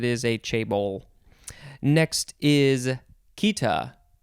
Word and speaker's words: chaeta: Next is Kita, Chaeta. These first few words in this episode are hard to pronounce for me because they are not pronounced the way that they are spelled.